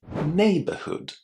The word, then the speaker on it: neighborhood: And if you have noticed the word neighbor and neighborhood are pronounced in exactly the same way in those first two syllables. So, even though the word neighborhood can be very difficult to say correctly, when you see it spelled, it's actually not such a big problem if you remember the pronunciation of neighbor. You simply say neighbor and add hood.